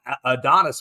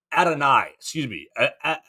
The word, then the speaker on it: Adonai: It's Adonis Mitchell, right? Is that how they want him to say his name now? Adonai Mitchell.